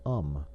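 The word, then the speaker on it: homme: So when he pointed to the word man, which he had printed upon a piece of bark, he learned from Darnau that it was pronounced um and in the same way he was taught to pronounce ape son and tree ar.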